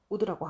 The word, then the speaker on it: would: 읽을 때 이 would의 L 소리를 내지 않고 읽습니다. 묵음입니다. 그래서 would라고 하면 됩니다.